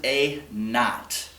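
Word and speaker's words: A₀: Teachers pronounce it A naught.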